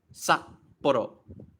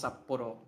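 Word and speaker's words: 札幌: No, you have to cut the sound off. Saporo. Saporo. Saporo. That's how you pronounce saporo.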